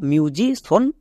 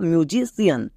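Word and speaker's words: musician: সনই এবং সিয়ানো হয় যেমন দেখো মিউজিশন বা মিউজিশিয়ান দুটোই বলতে পারো এখানেও দেখো মিউজিশন মানে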